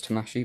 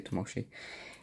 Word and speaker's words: Tamashii: for a tamashii tamashii how do you say I know it's too mushy but some people say tamashii that's one of the